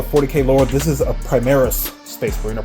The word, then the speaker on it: Primaris: If you're not familiar with the 40k lore, this is a Primaris Space Marine, or Primaris, as it's pronounced in Space Marine 2.